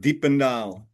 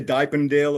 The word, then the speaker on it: Diependaal: Uh you pronounce it like Deependal. Deependal. See, I'm really glad I didn't try to do that at first. Yeah, because Americans mostly say diapen deal or something like that and I think, "No, no, man.